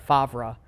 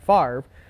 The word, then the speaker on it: Favre: The fact that like a lot of us still call him Brett Favre because that's how his name is spelled, even though it's Brett Favre.